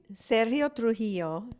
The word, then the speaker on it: Sergio Trujillo: Sergio Trujillo, Oh, yeah, I'm never going to do that one right.